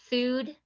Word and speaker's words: Fooducate: It's not educate, it's Fooducate, Fooducate, Oh, which cool.